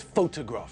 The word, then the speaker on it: photograph: Think about the word photograph, for example. There, the stress is on the first syllable, just like in Hungarian.